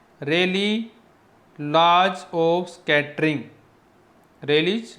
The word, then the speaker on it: Rayleigh: ये है रेली, spelling note कर लीजिए, RAYLEIGH, रेली लॉज बोलते हैं ऑफ स्कैटरिंग।